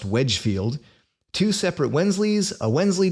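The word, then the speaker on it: Wednesfield: but we have wednesbury what looks like when's field but is actually pronounced Wedgefield two separate wensleys a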